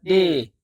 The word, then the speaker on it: ดี: Le mot « ดี » (prononcé « dee ») est souvent ajouté à la fin d’une phrase en thaï.